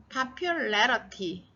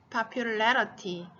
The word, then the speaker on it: popularity: 그래서 popularity, 발음이 또 달라지죠. popular, popularity. 여기 파를 세게 읽어야 되고 레를 세게 읽어야 돼요.